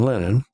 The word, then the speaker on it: Lenin: i guess in lyndon i'm using the russian pronunciation lenin he believed that that